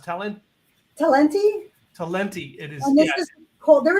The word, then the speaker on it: Talenti: oh yeah yeah tell and how does it pronounced telling talenti talenti it is yes Cole there is another brand